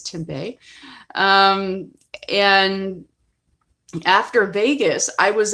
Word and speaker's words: Tempe: same town which is Tempe Arizona which is usually mispronounces Tempe and I just refused to say that it's to Bay and after Vegas I